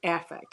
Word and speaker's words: affect: we talk about it it's pronounced a effect and the difference is like it's not like an effect like that happens or a special effect or something.